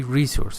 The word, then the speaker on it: resource: you see and resource you should say resource fair syllable is a stress said something else and